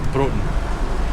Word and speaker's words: Broughton: It's actually spelled Broughton, but the locals it's pronounced Broughton.